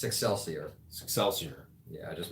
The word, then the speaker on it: Excelsior: eight ten eleven sassier which is cross between Excelsior and success yeah I figured success here it's excelsior excelsior yeah I just mispronounced it okay but that's where you pretty